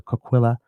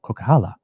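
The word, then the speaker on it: Coquihalla: Further yellow alert alerts issued Wednesday cover the Kquila Highway. No, that's I spelled I pronounced that wrong. Kokala Highway from Hope to Merritt and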